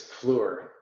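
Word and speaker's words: Fluor: who wants to know floor is spelled f-l-u-o-r so like flower but with the verb switch with the vowels switched so just in case just in case they're listening it's floor floor yeah yeah but not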